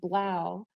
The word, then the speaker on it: 3LAU: be familiar with the electronic musician blau and his name is spelled 3lau he um made an